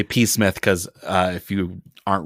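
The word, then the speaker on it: Psmith: nice and i say p smith because uh if you aren't reading it it is p-s-m-i-t-h but the p is silent very fine just like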